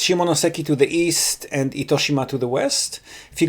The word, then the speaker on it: Itoshima: Koshima? Itoshima. How do you spell it? How do you spell it? Nito? Ito. I-T-O. I-T-O? Shima. S-H-I-M-A.